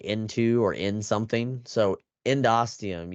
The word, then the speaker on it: endosteum: is known as the endosteum. So remember, I talked about ENDO as like into or in something. So endosteum, you can see ENDOSTEUM, steum, like endosteum. So that's how I say it, but it doesn't really matter how you pronounce it.